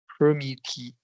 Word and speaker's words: permeate: The sweet, earthy scent of rain permeated. No, remember it's an ATE verb. So yeah. it's 3-syllable. In the root word, the first syllable will get the stress.